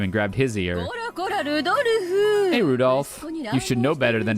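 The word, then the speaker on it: Rudolf: kinzo oh yeah anyway this guy's name is pronounced Rudolph he must hate grandfather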